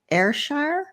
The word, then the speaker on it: Ayrshire: And she recently gained the Creative Scotland funding to write and produce 3 plays based in her home county of Ayrshire.